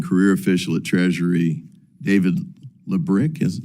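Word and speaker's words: Lebryk: I believe you were approached by the highest ranking career official at Treasury, David Lebrick. Am I pronouncing his name correctly? I believe it's Lubrick.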